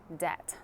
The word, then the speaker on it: debt: without getting into debt debt that's an interesting pronunciation we don't need to pronounce the b debt many families are